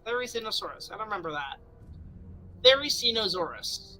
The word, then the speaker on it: Therizinosaurus: It is pronounced Therizinosaurus. Therizinosaurus.